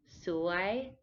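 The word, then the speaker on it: สวย: is a rising tone so it's lower at first and it goes up like a question so why this one is a bit important to use the correct tone because suwai means beautiful but suwai means unlucky so if you call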